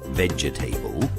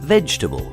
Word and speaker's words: vegetable: chocolate vegetable is another one we don't say vegetable we say vegetable and then there's jewelry apparently with four syllables that's too many so we only use